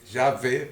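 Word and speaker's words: Yahweh: y estudiosos creen que la pronunciación sería yagüe otros inclusive en Israel dicen que es llave porque le pone llave porque le ponen la v en lugar de la W otro dicen Jehová el otro yahoova y así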